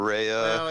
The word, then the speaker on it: Rea: or you know say the word pea you're not gonna say pay it's gonna be P or you know sea it's gonna be C so I totally I totally understand like why people would pronounce my name wrong well and and uh